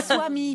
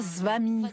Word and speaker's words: Swami: c'est Swami, pas Svami.